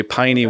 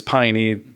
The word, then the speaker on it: Peine: So when I moved to Louisville, my agent and the management at the time decided my real last name is Peine, German, like Heine Brothers Coffee.